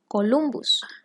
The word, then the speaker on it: Columbus: referencia a cristóbal colón cuyo apellido el latín se pronuncia columbus ahora posteriormente panamá también